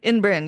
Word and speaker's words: Ymbryne: Um, we also find out that Miss Peregrine is a inbrin, yes, an inbrin, which is spelled very Welsh, Ymbrynes.